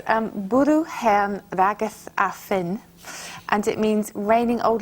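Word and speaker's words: bwrw hen wragedd a ffyn: And there's a wonderful linguist, Michael Quinion, who found this Welsh expression, and Carol told me how to pronounce it. It's bwrw hen rageth a ffyn, and it means raining old ladies and sticks.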